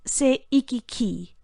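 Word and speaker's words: 西域記: The Chinese title is pronounced by Japanese as Seiki-ki.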